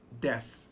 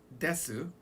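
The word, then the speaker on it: です: This is called des. Now des, even though it's written as desu, it's gonna be pronounced like des.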